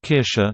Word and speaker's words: Kirsche: Not English but German, Kirche church and Kirsche cherry sound very similar to each other.